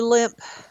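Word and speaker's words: Lemp: It would be limp mansion in St. Louis. Um, it's spelled L E M P.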